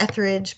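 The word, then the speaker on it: Etheredge: It's all E's. It's pronounced Etheridge, but it's Ether Edge is how you spell it.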